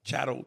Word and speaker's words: chattel: How you say it? Chattel. Chattel. Like cattle. Like it's what it's related to.